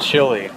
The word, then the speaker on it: Chile: I said Chile. That's the American pronunciation. Chile.